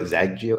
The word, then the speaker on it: Xagio: sign up for this check out zaygio zaggy as it pronounced yeah whatever you want